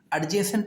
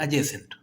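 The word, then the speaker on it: adjacent: सी इ एन टी अब देखो यहां पे जो डी होता है ना एडजेसेंट हम डी को यहां प्रोनाउंस नहीं करते। सही अच्छी इंग्लिश में हम अजय बोलते हैं। अजय सेंट। ठीक है? डी यहां पे साइलेंट होता है।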